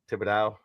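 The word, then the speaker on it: Thibodeau: I still can't say Tom Tibido. I know what his name is. I know what her name is. You just said it. You just said it. Yeah. Tibido. Tibido. Tibido. You said it right the first time.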